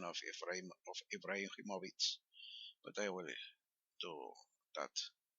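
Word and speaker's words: Ibrahimović: i will do that the name is rightly russian or serbian and the age is pronounced like more or less in english and that final c is like a ts in the fallbacks i've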